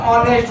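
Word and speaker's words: honest: एन लगता है और इसका उच्चारण अगर देखा तो ऑनेस्ट होता है क्या होता है इसको बोलते है ऑनेस्ट तो क्या हो गया इसमें ऑनेस्ट कहलाएगा तो क्या लगेगा ए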